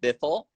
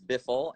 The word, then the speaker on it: BIFL: Yeah, it's called Biffle. Oh, Um, my bad. No worries, no worries. I know it's you look at the name and it's like, how do you pronounce that? It's Biffle, and it's a show